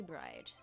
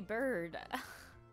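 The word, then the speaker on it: Byrd: trial of bride wait haven't I say your name wrong the whole time bir beard bird bird I been saying bride I keep I brain isn't switching the r and Y it's bird whoops s is ready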